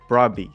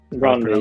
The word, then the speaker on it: Brøndby: And now you're at Brøndby. That's how you say it. That's how you told me to say it. Brøndby, yeah. Brøndby.